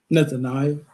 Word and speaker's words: Nethaniah: Nethaniah.